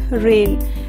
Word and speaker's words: reign: In this G is silent. We pronounce it as rain.